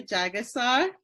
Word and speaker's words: Jagessar: I'm here with Jagessar, and I hope I said your last name right.